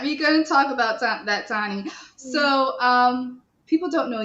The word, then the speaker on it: Toni: know it's actually pronounced tawny okay um like tonic without the c is what i like to say gotcha um i'm a